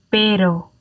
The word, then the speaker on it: pero: Now, again, if you imagine that there is a double T sound in there as a New Yorker, and you're thinking of the word bottle, then that bottle, you could replace that in for your single R.